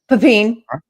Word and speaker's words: Pepine: I believe I'm pronouncing that correctly. Pepine. Pepine. Okay, little French only there.